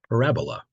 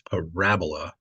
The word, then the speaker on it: parabola: a shape called a parabola make sure you put the emphasis on the right syab it's Parabola and not like Parabola it's interesting if you